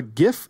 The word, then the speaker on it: gif: how to pronounce gif i'm going to pronounce it gif with heart g until the day i